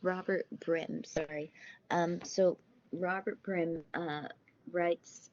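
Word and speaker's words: Robert Brym: Byrne gives in the textbook of, I should pronounce it's Robert Byrne. Let me check. I've read the textbook, but it's good to check. So the example that the author gives, so it's Robert Brim, sorry.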